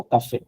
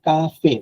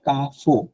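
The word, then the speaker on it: café: হ্যাঁ, লো বেবে, লো কাফে।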